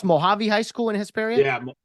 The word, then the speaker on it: Mojave: in administration as a principal at is it pronounced Mojave High School in Hisperia yeah yeah Mojave yeah yeah okay okay um and uh yeah